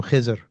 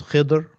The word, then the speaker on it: Khidr: So in where we come from, we call him Khizr. Right, Khizr. Mhm. Uh, but there's different ways of pronouncing his name. Um, there's Khidr, Khadir. It comes from the word green, Khadira.